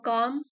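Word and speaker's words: calm: है बाद में अ काम माइंड इसमें एल साइलेंट है काम मतलब शांत अ काम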